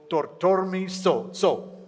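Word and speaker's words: Thorthormi Tsho: Bhutan's largest glacial lake is called Tortormi So. Is that the correct pronunciation?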